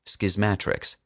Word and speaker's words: Schismatrix: At last, I can formally tell a skeptical public that the title of schismatrix is pronounced schismatrix with a short a like schismatics but with an r.